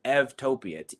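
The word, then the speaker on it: eutopia: and that word is evtopia eu topia because eu in greek is pronounced ev and so what you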